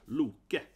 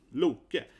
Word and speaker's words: Loki: But actually, Loki is always mispronounced in Marvel and so on, right? It's supposed to be like this, right? Loki. So it's a typical issue. People mispronounce Loki again, right? So Loki.